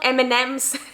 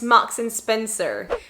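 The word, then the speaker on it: Marks & Spencer: go to mns and so it's not eminems it's not something else it's max and spencer so here you go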